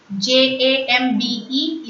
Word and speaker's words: jambe: J-A-M-B-E is jambe. Repeat. Jambe. A-M is the nasal sound. So, it's pronounced as jambe. Last letter E is silent.